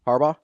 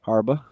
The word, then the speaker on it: Harbaugh: Harbaugh. Okay, thank you. I thought like you said something different. What did you think? I say Harba. Oh, no. Harbaugh. Like the gummy.